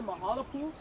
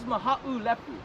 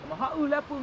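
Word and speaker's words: Mahaʻulepu: Lepu, a little bit easier to say Mahalapu.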